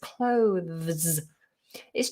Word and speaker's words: clothes: It's tricky because you have the TH, which is a fricative at the front of the mouth with the tongue poked out. And then you've got another fricative, which needs the tongue to be in.